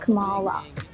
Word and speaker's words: Kamala: loved what an icon good morning camilla this morning actually let me need to tell you for years my name's pronounced kamala wow i'm proud of